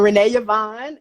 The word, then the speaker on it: Renée Yvonne: Yes, I'm Renée Yvonne, and I am a sex coach and educator and counselor who specializes in working with Gen Xers and baby boomers.